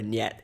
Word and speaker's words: niet: incident, or sometimes just is it safe or niet. And yes, before you comment about it, that is how it's pronounced, not het.